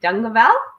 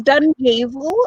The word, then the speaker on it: Dungavell: pronouncing your name right done the Val how do I say it's done evil and there's no tongue in it there's lots of gay